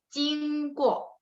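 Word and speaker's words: 经过: Jadi teman-teman yang lain J baca C, 经过, 经过.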